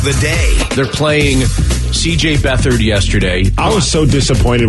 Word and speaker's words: Beathard: And then the guy says Beathard.